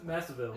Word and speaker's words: Masvidal: It's more fun when you pronounce the name. Jorge Masvidal. No, Masvidal.